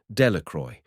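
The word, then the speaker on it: Dellacroix: Jones and Dicky dequire the villagers pronounced this name delacroy eventually made a great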